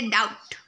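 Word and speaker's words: doubt: उसके बाद है डाउट, डाउट उसमें जो बी है, जो बी वो साइलेंट हो जाएगा।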